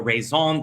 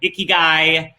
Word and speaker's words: ikigai: japanese call it your rezon they are correct me i said it wrong uh the japanese call it ikigai uh spiritual people and